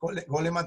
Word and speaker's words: Goleman: Dentro de esto, Goleman también, o Goldman, como lo pronuncian algunos, entra una parte muy